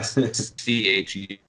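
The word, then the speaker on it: Chüd: CHUD, and Chud is how he thing like that is how he pronounces it.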